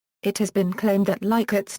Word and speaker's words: Likert: Pronunciation: Rensis Likert, the developer of the scale, pronounced his name Likert with a short I sound. It has been claimed that Likert's name is among the